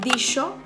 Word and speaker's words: dijo: Sí, palabras como esta o esta no se pronunciaban dijo o trajo, sino que se pronunciaban dicho, tracho.